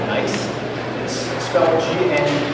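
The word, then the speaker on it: gneiss: nine meter slab a type of rock called nice and histology and e i s s but it's pronounced a nice group and I was from a foreigner subgroup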